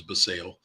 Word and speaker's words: Basallo: This is the 2023 Bowman Chrome First Prospect Auto of Samuel Basallo, or Basallo, depends on who you talk to. I say Basallo. I think correct pronunciation is Basallo.